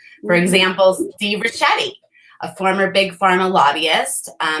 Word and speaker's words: Ricchetti: Ricchetti.